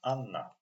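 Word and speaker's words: Анна: So Anna, actually this letter it's not H, it's pronounced like N. So this word pronounced Anna.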